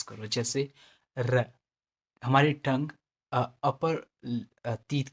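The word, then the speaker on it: rojo: करना है, इसको एज अ डी की तरह प्रोनाउंस करो, जैसे र, हमारी टंग अपर टीथ के पीछे जाएगी तो ये र साउंड देगा, र।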